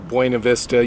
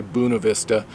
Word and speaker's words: Buena Vista: mountains of colorado near buena vista yes i pronounce it the spanish way locals don't say that they say buna vista but anyway today i've